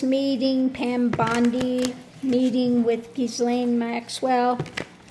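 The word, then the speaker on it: Ghislaine: Now, as far as the pronunciation of her name, you can stop texting me on that. I've had those that were speaking French that said that my pronunciation of her name for French way was correct. Okay? And that uh you know the pronunciation that they want to use here is giling.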